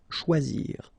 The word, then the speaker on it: choisir: Okay, remember when you combine this C and H, you get the sound sh, and then OI, wa, okay? Choix, and then zir. Choisir.